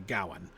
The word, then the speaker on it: Gawain: Um whereas when you're reading like Sir Gawain and the Green Knight, it's almost certainly Gawain uh with stress on the first syllable.